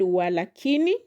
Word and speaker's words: walakini: Then we have the word walakini. Lakini depending on where you are going to stress will give it two different meanings. So considering the rule the second syllable from the end it is going to be walaini. Wala kini walakini which is a conjunction meaning however or nevertheless walakini.